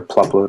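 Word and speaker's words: Plupload: we do is a PL upload which is or PLU load I pronounce it which is an HTML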